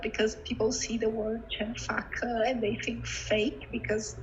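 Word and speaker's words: Chen Fake: Here in Brazil, it's a little bit difficult because people see the word Chenfaka and they think fake because there's lots of talk about fake news here in Brazil right now.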